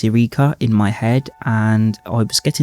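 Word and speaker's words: Yrica: very kindly replied that in his head it's Eureka, which is the only phrasing I didn't think of.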